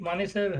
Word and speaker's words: मानेसर: तो ये मानसेश्वर महादेव के नाम से ये जो है, एक मानेसर हरियाणा में भी है, मानेसर है वो। हाँ, मानेश्वर नहीं है, हरियाणा का मानेसर है।